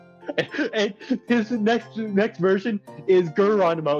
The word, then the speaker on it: Geronimo: And his next version is Geronimo. It's spelled just like Geronimo, except you pronounce the G with a G. With a hard G.